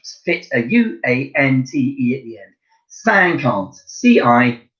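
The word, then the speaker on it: cinquante: and you just fit a you ance idiot sang can't see i n qu a n te sang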